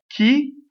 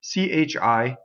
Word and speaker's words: chi: time so you have key chi chi the H makes the the I hard CI would be chi chi is key in uh I which